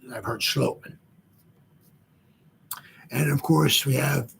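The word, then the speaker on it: Schlottmann: One guy I heard said he has like a Danish or a Dutch pronunciation to his name, so his last name is pronounced Schlotman. I heard Schlotman. I've heard Schlotman.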